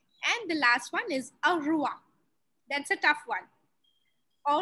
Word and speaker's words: au revoir: It's not easy. Au revoir. Yes, au revoir. Au revoir. Au revoir. Au revoir. Au revoir. Au revoir is goodbye. And yes, it's a tough one.